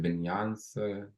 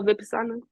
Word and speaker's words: Vipassana: Was that for how do you pronounce it? Vinyans? Oh, Vipassana.